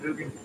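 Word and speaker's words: Gugan: Yeah, we're making a tomahawk, Guggen. That is how you pronounce that, correct?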